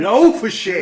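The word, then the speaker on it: Le Fessier: And the synopsis for this movie is Darren Silverman, which is played by Jason Biggs, Wayne, how do you pronounce it? Low-for-shit.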